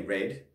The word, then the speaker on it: read: is the same it's very similar to the word read if you read something in the present tense and it becomes something in the past you will say red would you spell it r-e-a-d as well this means you need